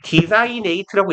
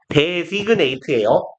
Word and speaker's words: designate: 그 이후부터 얘 디자인이네이트라고 읽지 마세요. 데그네이트예요.